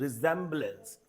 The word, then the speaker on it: resemblance: और इसका उच्चारण, इसका स्पेलिंग जो है वो दिस वन सी होगा, RESEMBLANCE, रिजेम्बलेंस।